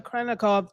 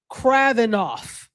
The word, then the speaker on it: Kravinoff: And then I said we asked them to bring Delilah or Anna Kranikov to Kravnik. I always say her name wrong. Kravinoff.